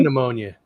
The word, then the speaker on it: pneumonia: pea pneumonia. Pea pneumonia. Hey, Lauren. Pneumonia. It's like one of those funny things about the English language, those silent letters.